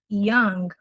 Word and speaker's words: young: Ó, nada de apesar de escrever com o, não temos esse o, ok? I was super young.